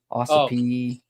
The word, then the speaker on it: Ossipee: Ossipee.